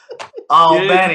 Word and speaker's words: Albany: I gotta pronounce it right. Albany.